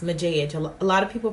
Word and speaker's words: Majige: name is but my channel is pronounced mojej a lot of people pronounce image EG Oh massage which I actually like a lot Mathias here on YouTube he actually pronounces my name massage and like I love the way he says